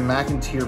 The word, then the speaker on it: McInteer: Museum, and obviously the McInteer Villa. I was saying it wrong in the video, but it's McInteer.